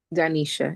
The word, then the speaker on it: Danisha: Hi, Oh, did I pronounce that correctly? Danisha. Yes. Thank you so Danisha.